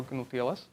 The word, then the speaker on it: GnuTLS: can just plug the result into OpenSSL or GnuTLS, am I saying it right?